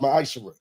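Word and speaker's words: מעשר: Means 10th in Hebrew and it's pronounced ma'ashara.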